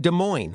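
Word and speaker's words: Des Moines: And that's a silent s in Illinois. Same with De Moine, which is in Iowa, but not the same with Dust Plains, which is in Illinois. It has noisy s's.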